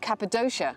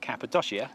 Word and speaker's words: Cappadocia: of our trip to cappadocia as i now know it's pronounced but if you missed part one when we called it cappadocia wrongly you do make sure